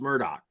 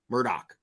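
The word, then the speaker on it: Murdaugh: pronounce this dude's name murder no dude like the G is not silent okay it's pronounced Murdoch Murdoch that's what it's it's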